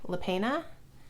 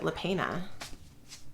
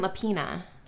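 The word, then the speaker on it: Lapena: happy family by Sherry lepena I started the audiobook and I think the narrator pronounced it lepena it wasn't lapina I think it was like lepena and this was supposed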